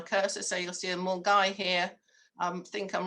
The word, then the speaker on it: Milngavie: It goes from, now I've almost forgotten how to pronounce this, but I know you don't say Milngavie. I think you say something like Mulgai to Fort William in Scotland.